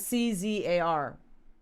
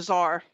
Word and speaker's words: czar: brainchild of service acquisition how do you say that words where are we at c-z-a-r oh the czar czar okay will will roper will